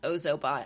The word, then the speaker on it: Ozobot: Uh, but going along with coding, we also have two Ozobot kits. It's pronounced Ozobot. I always say it wrong.